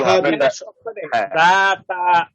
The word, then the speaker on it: لهب: হ্যাঁ এক মিনিট, এই লাহা না কিন্তু, এটা কিন্তু হা, সিম্পল হা, লাহাবিউ, লাহাব এটা সিম্পল হা। লাহাব এটা হ্যাঁ হ্যাঁ সব হালকা উচ্চারণ।